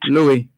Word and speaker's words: Louis: Louis, I think the S is silent.